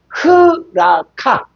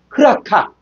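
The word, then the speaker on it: ῥακά: 그 요건 로인데 로인데요 강표가 있잖아요. 그랬을 때는 앞을 앞에 히 발음을 해 줘. 히게 라카라 라카인데 뭐라 그냐?요 강순표가 있기 때문에 흐라카. 흐라카.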